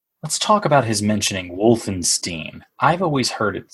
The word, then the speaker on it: Wolfenstein: I figured as much the proper thing in German is you pronounce the letters as they are written and I comes before